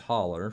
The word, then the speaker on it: Hollow: I am originally from northeastern Kentucky, a place called Butcher Holler. It's spelled hollow, but it's pronounced holler for those in Kentucky that are listening.